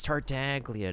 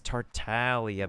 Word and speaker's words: Tartaglia: There's people be like, "It's Tartaglia." No, it's Tartalia because it's a silent letter, whatnot.